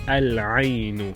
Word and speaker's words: العين: And we introduce a definite article is Al-Ainu.